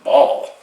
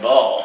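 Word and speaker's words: Bahl: And they acquired defenseman in Kevin Ball, and it's spelled B-A-H-L, which is almost pretty close to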